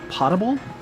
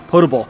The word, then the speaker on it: potable: your water from non potable potable apparently I'm saying it wrong potable if you're pulling your